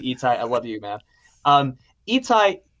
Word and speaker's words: Itai: He's doing Itai Ben Shlomo, now known as Itai Benson. He did the band's visit. Huge shout out to Itai. I love you, man. Itai was Itai. Sorry, I'm getting the emphasis on the wrong syllable.